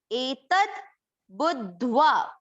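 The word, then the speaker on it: एतद्बुद्ध्वा: आपको ध्यान देना होगा, 'दा' और ' धा' दोनों आधे हैं। देखो, 'दा' के नीचे एक हलंत है और आधा 'धा' है। Etad budhva.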